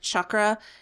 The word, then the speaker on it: chakra: And you turned me on to the chakra balancing or whatever, where it like each chakra, and that's how it's pronounced, chakra, is a different chant, and it goes through the different chants for each chakra.